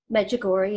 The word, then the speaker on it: Medjugorje: Medjugorje, yeah.